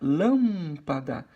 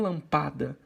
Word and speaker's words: lâmpada: Então fica lâmpada, não lampada, lampadá, não.